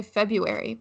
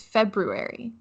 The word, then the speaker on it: February: Oh, I think you have to include the first R, and I don't. I just say February, but I think it's February. Really? Like legitimately it's February? I mean, that's how it's spelled, right? I mean, yeah. But I just thought that the R was silent, which, in the English